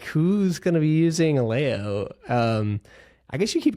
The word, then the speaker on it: Aleo: uh I the the the founders call it Alo rhymes with paleo but uh we even